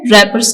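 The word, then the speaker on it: wrappers: आप देखि इसको प्रोनाउंस करते वक्त हम आर से स्टार्ट कर रहे रैपर्स डब्लू साइलेंट है तो यहां पर हमने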